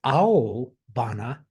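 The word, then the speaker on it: aobana: careful I want to emphasize this this is a bana blue flower excuse me that's spelled a o b a n a as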